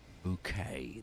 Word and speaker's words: bouquet: Bouquet. That's the pronunciation in British English.